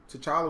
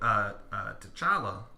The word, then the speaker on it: T'Challa: That was the comparison that I felt when I watched the movie was like, T'Challa was very much MLK and Killmonger was very much Malcolm X.